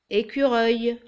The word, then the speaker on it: écureuil: Il y a un U après le C et ça se prononce Q, écureuil.